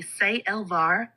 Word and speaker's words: Sailvar: I think it's Salelvar. Am I correct? Salelvar. CmdrAleon. The name is Sailvar, pronounced roughly Say-Elvar, with a light pause at the apostrophe.